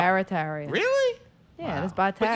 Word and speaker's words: Barataria: We say Bataria. You say Bataria instead of not Barataria.